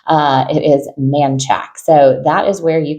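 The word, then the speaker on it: Manchaca: model home and this looks like it is pronounced Manaka but it is not uh it is manack so that is where you can find the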